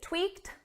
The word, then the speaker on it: tweaked: we tweaked the plan now notice the pronunciation of tweak this is in the past simple so it's an ed verb but because the verb ends on a c we need a soft T so it's not tweaked